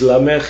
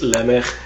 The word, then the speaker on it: Lamech: Oh, and the other one, that there are two pronunciations of his name in this portion that I'm reading today, is Lamech. In one case he's Lamech, in the other he's Lamech. No difference in meaning.